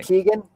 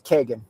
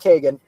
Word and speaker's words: Kegan: Uh, so most people pronounce the name Keegan, but the traditional Irish pronunciation of the name is Kagan. So that's my No, it's all right. Super common. And I I hear it and I don't even notice it anymore because so many people say Keegan, but it's it's pronounced Kagan.